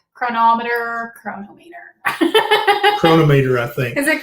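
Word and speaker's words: Cronometer: I use Chronometer or Chronometer. I'm not really sure how you're supposed to pronounce it, but it's Chronometer.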